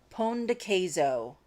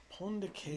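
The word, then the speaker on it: pão de queijo: Guillermo says, I think the pronunciation for you guys is something like Pon de Queso. Pon de Queso. Haha, thanks. Okay. Is that right? Pon de Queso. What do we think? Yes, that's exactly it.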